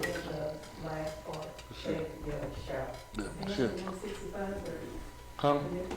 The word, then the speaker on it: Mephibosheth: Mephibosheth. Mephibosheth. Huh? Yeah, they say it fast. Mephibosheth. Mephibosheth. That's the correct. Pronounce his name? Yeah, Mephibosheth.